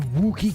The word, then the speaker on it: Wookiee: Am I pronouncing those two O's in Wookiee correct? What? Wookie? Wookie. Look. It's like look.